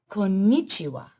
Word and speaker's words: Konnichiwa: Konnichiwa.